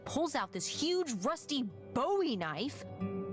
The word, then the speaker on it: Bowie: And then all of a sudden, with no warning, he pulls out this huge rusty Bowie knife. It's actually pronounced Bowie. What? No, it's like the last name, like David Bowie.